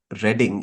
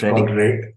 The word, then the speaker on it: Reading: They call Reading as Reading in the US. I don't know how it's pronounced in the UK, by the way. Is it Reading? It's called Reading, not Reading.